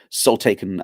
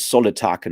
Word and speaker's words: Soul Taken: and for whatever reason, Michael Page pronounces it as Solitaken, and I'm like, that's dumb because the idea of soul written the way it is makes total sense for what soul taken are, and just by pronouncing